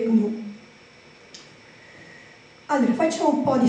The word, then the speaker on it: GNU: si legge quindi praticamente non dovremmo dire New ma dovremmo dire G Allora facciamo un po'